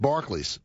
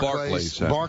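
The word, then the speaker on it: Barclays: b a r c l a Ys it's pronounced Barkley right and it's not supposed to ever have the th in front of it so it's bar barlay Center well now you had me saying barlay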